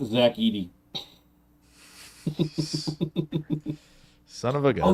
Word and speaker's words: Zach Edey: Wikipedia is telling me it's pronounced Zach Edey.